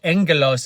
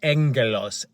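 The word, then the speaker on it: ἄγγελος: be agelos which is agelos or Angelos is how you would phonetically you would speak it phonetic means the way it sounds so it's spelled AG g g e l oos but it sounds like Angelos that's where we get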